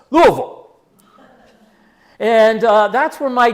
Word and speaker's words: Louisville: moved from Nashville to let's say it right Louisville not Louisville it's Louisville and uh that's where my dad uh he had kind of an indistinguished life in Louisville except he tried he went to the Louisville Male High School and he tried out for